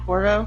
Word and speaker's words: Corvo: Corvo? Yeah, Corvo, yeah. Yep, I got the mask. Looking at it right on the table right now. Honestly, if there was anybody, probably, anybody stealth would probably be Corvo.